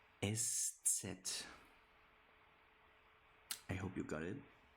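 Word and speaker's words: Eszett: And then the one that you not know how to pronounce yet or most of you never heard of it. It's called estet estet estet.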